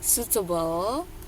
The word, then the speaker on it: suitable: Suitable. I-nya enggak dibaca.